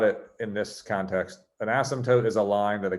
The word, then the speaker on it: asymptote: is silent it's not asymptote and the last syllable is tote like a tote bag like totally awesome totes mcgoats not taupe like isotope that's asymptote asymptote say asymptote so an